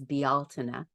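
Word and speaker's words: Bealtaine: a great example and and I learned to pronounce it in Gaelic which is bialtina when I was in Ireland in 2019 and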